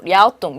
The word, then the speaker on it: 랴오동: 그래서 요동반도를 향해 있다는 뜻으로 우리가 바로 중국 발음 그대로 랴오동, 요동이 랴오동 방향 뜻으로 랴오동 방향의 지질 구조선이 그입니다.